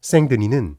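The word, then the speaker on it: Saint-Denis: 지역입니다 특히 파리북부에 위치한 생드니 성당 주보랑 부분에서 처음으로 고딕의 건축이 등장했습니다 생드니 성당은 프랑스 왕과의 무덤으로 기능하던 것으로 파리의 수호성인 디오니시우스에게 봉헌된 교회입니다 성 디오니시우스 프랑스 시 발음으로 생드니는 3세기 중엽 마리아 지역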